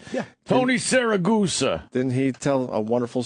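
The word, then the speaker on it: Siragusa: Tony Saragusa, right? Yeah. Tony Saragusa.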